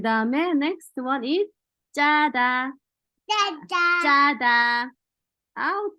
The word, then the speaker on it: 짜다: So when you pronounce the 쌍지옷 into 지옷 wrongfully, then it becomes 자다, is sleep.